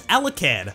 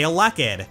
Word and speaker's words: Elekid: The official pronunciation is Elekid, but I've also heard people say Elekid, stressing the second syllable instead of the first.